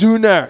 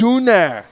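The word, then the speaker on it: Sünner: She's eating schnitzel right now in Cologne, Germany, and drinking Sooner beer. It's pronounced Zuner. It's Zuner. Say it the right way. It's Zuner.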